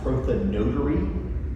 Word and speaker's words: prothonotary: Um, proonetary uh would probably more accurately be pronounced proa notary.